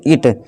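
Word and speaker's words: it: ये ईट नहीं है दोस्तों, इट। इसका राइट प्रोनाउंसिएशन क्या है दोस्तों, इट है। ठीक है दोस्तों, आपको इसका ध्यान रखना है। इसे इट बोलते हैं, इसे इट पढ़ते हैं, इसका मतलब होता है यह।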